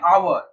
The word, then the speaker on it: hour: Next, a mute age, an hour, hour এর spelling কি? HOUR, H তো consonant, কিন্তু উচ্চারণ কি হয়? আওয়ার।